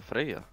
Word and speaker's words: Freja: Like Freya or Freja is like I think it's like it's pronounced Freja with like with Y and then J afterwards.